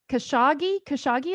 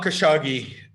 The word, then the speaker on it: Khashoggi: Khashoggi, is that how you pronounce his name? Yeah, Jamal Khashoggi is a activist, right?